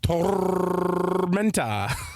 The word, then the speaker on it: Tormenta: Tormenta Rampaging Run or if you really want to pronounce it correctly, Carsten. Tormenta.